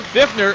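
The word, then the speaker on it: Pfiffner: In the second game yesterday, Will Fiffner feasted with that silent P in front of his name.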